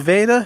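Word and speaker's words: Vada: Her name is Veda. She's a pure German Shepherd, and that's spelled V-A-D-A.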